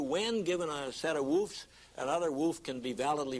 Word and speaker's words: WFF: And the formation rules tell you when an expression is well formed, generally written by the logicians as WFF, without dots, usually italics, and pronounced woof, like a dog.